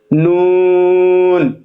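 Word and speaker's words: ن: মিম লাম মিম নুন জিহ্বারা উপরের তালো সঙ্গে লাগিয়ে উচ্চারিত হয় নুন এটাতেও কোন জরতা নেই একদম স্বাভাবিক শব্দ ন ওয়াও এর মাখরাজ দুইঠতে উচ্চার হয়।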